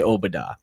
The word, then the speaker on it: Obada: were both lowercase so the emphasis is on the o and not the ba like everyone else has been saying his name is not